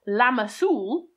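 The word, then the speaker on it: lá mas úbhall: seeds and was therefore named la mas ubau that is it was the day of the apple fruit and being pronounced lama soul in old irish the english have corrupted the name to lamb's wool that said most of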